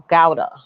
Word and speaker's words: Gawdat: happy by mo god gowda what the hell you say his name it's god but i think he says it gowda come on come on